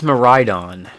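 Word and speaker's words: Miraidon: you pronounce the the vowels um okay yeah pronunciation apparently it's maridon or like meon but yeah it's supposed to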